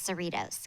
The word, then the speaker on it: Cerritos: It rhymes with Doritos, and I think you say it's Cerritos, California.